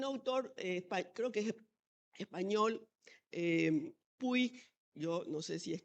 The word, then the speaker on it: Puig: Y es interesante porque hay un autor, creo que es español, Puig, yo no sé si es catalán, así no puedo pronunciar Puig, sino que Puig, creo que Sergio Puig,